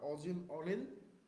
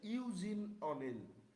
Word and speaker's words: Eugene O'Neill: আচ্ছা, এটাকে হচ্ছে দুইভাবে উচ্চারণ করা যায়, একটা হচ্ছে অজিন অনিল, আর একটা হচ্ছে ইউজিন অনিল। ইউজিন হচ্ছে কিছু এটা মূলত এই যে আমেরিকানরা এই সাইডের মানুষগুলো বলে।